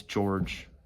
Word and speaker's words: Gorge: His name is George. It's supposed to sound like George, but it's spelled like gorge. So, yeah.